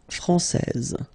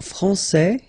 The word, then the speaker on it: français: main rule, elle est française. Okay, so français here, you get this final S that you don't pronounce, so français. And then when you put this final E here, you will get française.